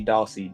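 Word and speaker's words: Dawsey: So, do they spell her last name in different ways? Like Dorsy? D O R? I uh I've seen it spelled like that one or two times before. Okay. But it's definitely Dossi. D A W S E Y.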